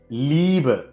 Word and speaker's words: Liebe: இதே மாதிரி ஈ ஏ ரெண்டும் சேர்ந்து வந்துச்சுன்னா அதை ஈன்னு உச்சரிக்கணும். நெடில்ல ஈன்னு உச்சரிக்கணும். zum Beispiel Liebe, zum Beispielனா எடுத்துக்காட்டுக்குன்னு இருக்கும். Liebe, Schieben அப்படின்னு சொல்றது.